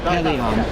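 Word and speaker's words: Pellaeon: Now, how do you say Pelion? That's how it's... Pelion. Pelion? Pelion. Or Pelion, with a slight A sound.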